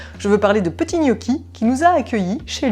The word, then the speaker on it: Niochi: Petit Gnocchi, qui s'écrit N-I-O-C-H-I. C'est ça. On a tendance à t'appeler Gnocchi, Gnoc, Gnocchi.